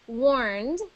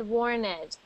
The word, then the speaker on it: warned: so that is why we don't pronounce it as ed we pronounce it as warned okay warned next one